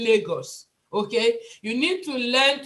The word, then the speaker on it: Lagos: For instance, I know that some of us have issues with pronunciation of R and L. For instance, you're going to say Lagos and you say Regos.